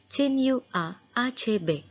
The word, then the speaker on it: Chinua Achebe: Today we are going to learn the lesson The Shell Falls Apart written by Chinua Achebe. Yes, that is how you pronounce his name, Chinua Achebe.